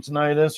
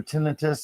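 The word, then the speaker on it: tinnitus: ringing that you get from tonitis or tinitus as some people call it. Uh, I do believe either way you want to pronounce that is fine.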